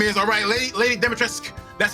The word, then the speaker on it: Lady Dimitrescu: I THOUGHT IT WAS GOING TO BE LADY DIMITRESCU. YOU KNOW, YOU KNOW WHAT HER NAME IS, LADY DIMITRESCU. THAT IS HOW IT IS PRONOUNCED, SO EVERYBODY SAY IT. LADY DIMITRESCU.